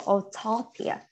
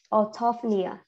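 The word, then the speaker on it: orthopnea: to pronounce okay so the stress will be at the t-h-o-p so tough so our autopia autophia okay so so you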